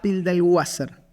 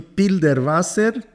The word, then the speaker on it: Pilderwasser: Bueno, soy Pilderwasser, el Wasser por agua Okay. en alemán. No tengo parientes alemanes. No, mis abuelos llegaron a Brasil de Rusia y de Polonia. Okay. Pero es Pilderwasser.